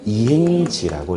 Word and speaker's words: 이행지: 근데 밑에 건 다르게 읽어요. 잘 보세요. 원래 주거지였는데 장차 상업지가 될 이행지라고 읽어요.